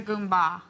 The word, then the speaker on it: goomba: So what exactly is a Goomba?